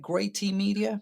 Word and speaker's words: Gray Team Media: i pronounced that right great team media so it's actually a play on words it's going to be great media uh so last my